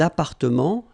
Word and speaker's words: appartements: Remember, final S and final T are not pronounced here. Des appartements, little liaison here, des appartements en copropriété.